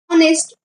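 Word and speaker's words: honest: म्हणून त्याच्यासमोर एन लागणार ऑनेस्ट ऑनेस्ट स्पेलिंग एच पासून जरी स्टार्ट होत असलं तरीसुद्धा त्याच्यासमोर एनच लागणार कारण त्याचं स्पेलिंग जरी एच पासून स्टार्ट होत असलं तरीसुद्धा त्याचं प्रोनाऊन्सिएशन अ पासून आहे म्हणजेच प्रोनाऊन्सिएशन ला महत्व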